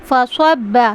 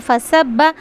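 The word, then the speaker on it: فصبّ: रब का सौत अदाब फसब्बा स्वाद का मखरज करेक्टली अदा करना है वरना तो अगर हम इसको पढ़ेंगे फसब्बा सीन की आवाज़ आएगी तो लहने जली हो जाएगा। हुफ बदल जाएगा। हल्के से हल्की सी लापरवाही से। यानी हमने स्वाद को सीन पढ़ दिया। मोटा नहीं किया। तो यहां पे लहने जली होने का डर है।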